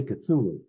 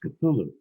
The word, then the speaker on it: Cthulhu: I mentioned Lovecraft, and I mentioned Cthulhu, but I didn't say Cthulhu. I forget exactly how I pronounced it. And he corrected me, and he said, no, it's pronounced Cthulhu.